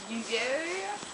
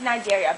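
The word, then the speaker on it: Cnidaria: Nigeria? Actually, Shirley, it's pronounced Nigeria, but good try anyways.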